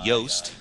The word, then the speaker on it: Yoast: WordPress SEO by uh yast and uh yast is actually spelled like it's j o o s like Juiced but WordPress